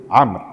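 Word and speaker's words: عمرو: Uqbah bin Amr. Kalau dia tidak ada waw di belakangnya, itu dibaca dengan Umar. Untuk membedakan tulisan Umar dengan Amr, itu wawunya. Ya. Kalau ada waw, Amr bacanya. Kalau enggak ada, Umar.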